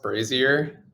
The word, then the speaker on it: brazier: no green's good can i say something it's pronounced brazier for like the torch thing oh oh brazier